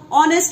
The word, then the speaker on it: honest: You know, honest hour, though it is written with H, it's starting with H, but H is silent, and when we pronounce